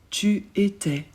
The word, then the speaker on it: tu étais: Tu étais. Pour tu, on ajoute AIS aussi. On prononce pas le S et AI se prononce est.